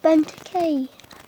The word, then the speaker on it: Benteke: that ok oh my god oh my god benteke that's how you say it Bentley bend hey